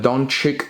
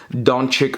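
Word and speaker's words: Dončić: Panini Donruss Luka Doncic. That's how I pronounce it. I don't care how you pronounce it. Doncic Rookie Gem in 10.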